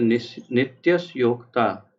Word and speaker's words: नित्यस्योक्ताः: जैसे नित्यस्योक्ता, उसके बाद दो बिंदु है तो नित्यस्योक्ताः।